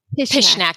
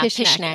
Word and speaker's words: Pishnak: Pishnak, just like just ish. Yeah, Pishnak.